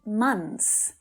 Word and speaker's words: months: in two years nice now months is a particularly difficult word to pronounce here there are three consonant sounds together that's really hard and one of them is the th sound but when you're trying to pronounce this word in a sentence with other words around it you're much better off skipping the th sound and just saying mons because people will still